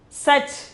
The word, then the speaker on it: सच: 11th one is such. Such. Such means pronunciation is such.